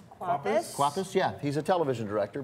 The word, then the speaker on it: Kwapis: Kwapis, yeah.